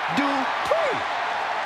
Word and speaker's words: Dupri: Comes The Talented Maxine Dupri uh Michael it's pronounced d PR the following contest is